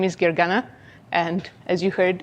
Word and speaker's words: Gergana: Joe already introduced me but my name is Gary gana and as you heard it's a difficult name to pronounce so I usually go by if